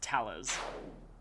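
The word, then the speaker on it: Thales: Okay, so it's pronounced Talus. Talus?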